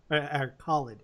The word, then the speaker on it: Khaled: Khaled is how it's pronounced. He actually says it in the song.